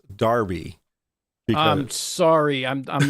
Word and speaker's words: Derby: quick I have Marcus leech that says is pronounced Darby because I'm sorry I'm I'm not British look